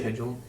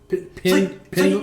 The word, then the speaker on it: pendulum: How do you say pendulum? Pendulum. Pendulum. You throw a J type sound in there, too, don't you?